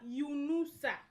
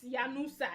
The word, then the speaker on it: Yunusa: You tomato juice, my second name is not Yanusa. It's Yunusa. Good job.